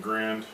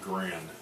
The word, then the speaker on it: Garand: Grand. I'm sure I mispronounced his name. It's spelled G-A-R-A-N-D, Garand, I believe.